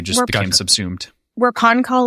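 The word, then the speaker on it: Pahn Kahl: How do you pronounce that? Idris or Ponkal? No. Hello. I Ponkal. think hello. Oh, Ponkal. Ponkal is Okay.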